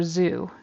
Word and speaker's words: zoo: old Sue so again he says an S sound instead of a z sound for Zoo it should be a z sound